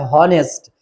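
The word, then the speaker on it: honest: देखो एन ऑनेस्ट मां आईटी इस note pronounced like ऑनेस्ट इट्स ऑनेस्ट मां आया तो यहां पे हा जो है क्या है वो साइलेंट है ठीक है तो जब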